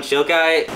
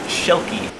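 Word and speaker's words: Schilke: Okay, listen, that giant inflatable of Alan Shilkai... It's pronounced Shilky.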